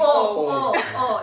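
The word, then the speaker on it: eau: E-A-U. But we pronounce it oh.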